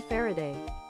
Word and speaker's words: Faraday: from Michael faray and Michael far's name is pronounced like this Michael Faraday so maybe it's